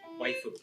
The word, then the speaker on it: Waifu: Did I pronounce that right? Waifu.